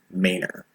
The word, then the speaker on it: Manor: city it leads into, Manor. Manor, while it looks like it might be pronounced like Bruce Wayne's Manor, we have our own way of saying it around here, so please learn the Austin way right now, or you'll